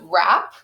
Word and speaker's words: wrap: the root word is wrap so this one's interesting for two reasons there's the silent W before the R and wrap and then also when